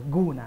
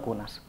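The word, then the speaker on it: gunas: Aunque se escriba con G, seguimos pronunciando una K o una C, ¿no? Pasa que, bueno, realmente cuesta porque, claro, el cambio de la grafía nos lleva al guna, ¿no?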